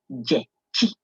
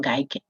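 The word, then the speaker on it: Gyekye: It is Jechi. That is how it is pronounced, not Gaike.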